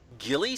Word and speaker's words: ghillie: woods that were wearing ghillie suits gho ie ghillie correct I have friends in the military that's how it's pronounced okay it's a new